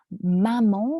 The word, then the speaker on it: maman: So, par exemple, for example, le mot maman, répétez s'il vous plaît, maman. Maman. Maman, oui. So, the A-N, ça se prononce comme on, maman.